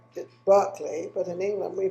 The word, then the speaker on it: Berkley: me his name is max barkley um he pronounces it berkeley but in england we pronounce it sparkly so